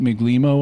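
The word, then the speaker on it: Migleemo: i see i i i think they say it miglimo on the show but like it looks italianate and so yeah i want to i want to soften the g and and try to pronounce melimo or something like that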